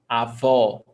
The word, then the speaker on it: avó: A avó, open vowel sound, o, avó.